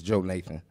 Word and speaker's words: Jonathan: man's uh older brother correct pronunciation is Joe Nathan thank you I can't